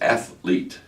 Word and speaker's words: athlete: It's athlete.